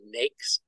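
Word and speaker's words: NAICS: American industry classification system which is pronounced NES which is a federal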